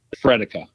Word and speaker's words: Frederica: So there was this street in Onslow, and if you sounded out, it should have been called Frederica Street, and we Fredica. We just don't like the syllables as much.